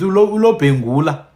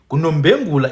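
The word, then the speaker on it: Lobengula: It's the same thing with uLobhengula. KuLobhengula in one dialect, kuNombengula in another dialect.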